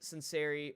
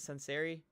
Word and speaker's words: Sanseri: EJ what is it is it sanseri yeah it's sanseri s there we go I butchered it the first time I've been working on